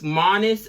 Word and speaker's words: Marnus: how do you say it but no it's Manus minus little machine and minus has it a